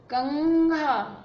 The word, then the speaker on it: कंघा: देखो ना, पंथ आगे थ है तो इसका उच्चारण ना हो रहा है, कंघा आगे घ है तो इसका उच्चारण ग हो रहा है, इसकी तरह।